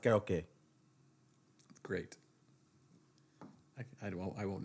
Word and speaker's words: karaoke: life okay I don't it's pronounced karaoke great I don't I